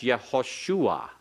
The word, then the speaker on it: Yehoshua: Not Joshua, that's Yehoshua. Yeshayahu. Yeshayahu. Isaiah. Isaiah. You see that our English pronunciations are based upon normally words that were